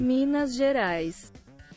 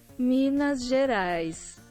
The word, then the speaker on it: Minas Gerais: I'm pronouncing it wrong? Give me a sec. Portuguese detector. Let's see. Minas Gerais. Oh, Gerais. Oh. Minas Gerais. Minas Gerais. Okay, Minas Gerais.